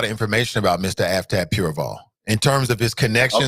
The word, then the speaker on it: Pureval: Now, you remember that name that I brought up last time that I mispronounced? Avtab Purval, right? Pureval.